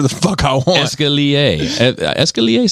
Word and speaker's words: escalier: You said escalier. It's escalier. How many staircases have you bought there, Seabass? I'm just curious, because I can call it whatever the fuck I want. Escalier. Escalier sounds nicer, though, to be fair.